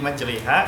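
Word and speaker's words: مجراها: Gharib kan enggak ada tulisan Bismillahimajroha, tapi dibacanya Bismillahimajreha. Kenapa kok jadi majreha?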